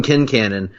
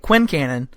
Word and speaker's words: Quincannon: by the way, you and I had been pronouncing it Quincannon for the entirety of our friendship until the show came along and informed us we were idiots.